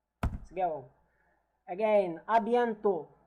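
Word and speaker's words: à bientôt: the S already and the T if they are not followed by a vowel it is not pronounced is the case also for the D letter. Let's go again. Abento. Abento which means also as see you later.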